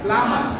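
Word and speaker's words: plumber: তারপরে আরেকটা শব্দ আমরা দেখতে পাচ্ছি প্লামার, কি হবে? প্লামার। এখানে বি এর উচ্চারণটা সাইলেন্ট থাকে।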